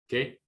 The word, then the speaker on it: qué: So that's why this word here is pronounced K. ¿Qué?